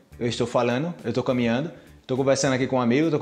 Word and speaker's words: conversando: Estoy "conversando" con un amigo, "tô conversano". "Conversano"? "Conversano"? No es "conversando"? Sí, es "conversando", pero como hablamos rápido, suena como "conversano".